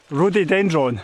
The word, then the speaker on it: rhododendron: I always pronounce it wrong. Rhododendron. Rhododendron. Rhododendron, thank you.